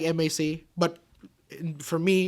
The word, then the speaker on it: M.A.C.: Yeah, M.A.C. is Mac. But it looks like M.A.C. But for me, it's just M.A.C. Everyone's like Mac. Mac. It's pronounced as M.A.C. M.A.C. is just an acronym.